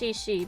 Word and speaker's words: Shishi: Yeah, I know her name is pronounced Shishi because she sat there and said her name over and over again, the weird zombie girl.